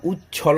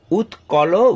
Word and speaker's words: উৎকল: নয় মরাঠা, দ্রাবিড়, উৎকল, এখানে ছাত্রছাত্রীরা উচ্ছল বলে ফেলে, উৎকল, বঙ্গ, এখানে ছাত্রছাত্রীরা ভুল করে ভঙ্গ।